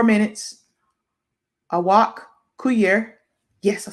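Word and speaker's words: Awak Kuier: Awak Kuyer.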